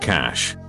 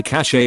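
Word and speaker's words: cache: people say are crist cash generally means a hiding place pronounced cash people say cash a all the time Spanish / quit o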